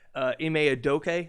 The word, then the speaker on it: Ime Udoka: Ime Udoka, that's how you say it. Udoka?